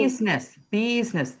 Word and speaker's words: business: Business. Think of it like a busy bee.